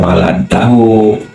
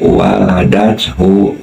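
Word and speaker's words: ولدته: Nah itu dibacanya bukan waladtahu tetapi waladathu ya.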